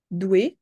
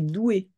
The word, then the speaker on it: doué: peux en trouver d'autres dou ouais alors ça prononce pas dou mais doué doué du de Dou